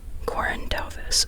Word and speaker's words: Corinne Duyvis: Okay, her name is Corinne Duyvis. Corinne Duyvis, okay.